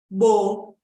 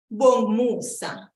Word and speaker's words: Bongumusa: And then the next name is Bongumusa, Bongumusa. Bongumusa. Now, you may also hear it pronounced this way, Bongmusa, Bongmusa, that you don't really hear that U after the G, Bongmusa.